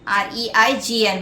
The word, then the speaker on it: reign: Next word, reign, R-E-I-G-N, where the G is silent. Yeah, it is reign.